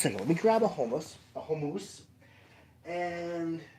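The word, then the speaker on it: khomus: about jaw Harps unless you're talking about yakutian homus so hold on just a second let me grab a homus a homo and H where you hiding here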